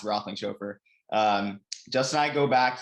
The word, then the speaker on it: Roethlingshoefer: Justin and I, he's a hard last name. It's pronounced Roethlingshoefer.